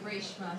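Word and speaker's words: Raeshma: name is my goal name is actually reshma so that's r a e s h m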